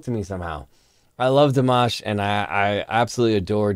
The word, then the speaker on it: Dimash: me many times in comments before that it's pronounced dimash not dimash and I think that uh some people get